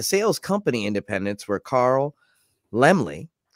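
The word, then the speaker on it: Laemmle: company independents were carl lemley by the way it is lemley i i looked it up uh it is silent and means little lamb there's a great youtube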